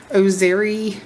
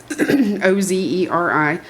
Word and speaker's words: Ozeri: I was sent this Ozeri, I guess that's how you pronounce it, Ozeri, ultra thin digital kitchen scale.